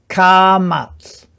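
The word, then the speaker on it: Kamatz: So it's a short A sound, and ka-mats. It's a longer A sound. And that's all I want you to remember there with those. Try to remember their names. Cholam, Sheva, Se-gol, Se-re, Patach, Ka-mats.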